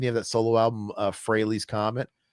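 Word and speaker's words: Frehley: Didn't you have that solo album Freighley's Comet? Shouldn't it be obvious that it's a pun and it rhymes with Haley's Comet?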